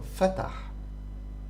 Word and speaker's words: فتح: This is pronounced like this. فتح.